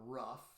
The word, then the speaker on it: ruff: that sounded like a rough rough rough rough rough kind of roll the r and rough a little bit you get sort of